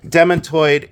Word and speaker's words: demantoid: Here is the demantoid garnet pendant pin. So these are demantoid or demantoid. Both pronunciations are acceptable. I say demantoid. That's the way I pronounce it.